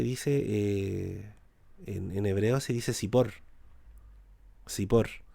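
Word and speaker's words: צִפּוֹר: Pájaro se dice, en hebreo se dice sipor.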